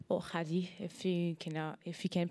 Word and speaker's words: Khadie: So my name is my name is Katie, or Hadi, if you can pronounce it in Arabic.